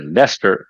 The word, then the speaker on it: Leicester: I mean, you call it Leicester. It's not even written as Leicester. It's written something else.